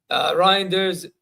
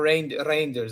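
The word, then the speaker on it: Reijnders: Reinders, or Reinders apparently is how you pronounce it, is long-term replacement for Gundo.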